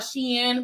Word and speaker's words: Shein: When it first came out, I was calling it Shein. But then you get on the internet and they say it's called Shein because it's supposed to stand for like she's in, like she's, in season,